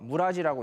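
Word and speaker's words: 連: 그게 뭐냐면 신이라고 한자를 써서 오미라고 읽고, 연이라고 한자를 써서 무라지라고 읽고, 군이라고 한자를 써서 키미라고 읽고, 직이라고 한자를 써서 아타이라고 읽고, 조라고 한자를 써서 미야스코라고 읽고, 수라고 한자를 써서 오비토라고 읽습니다.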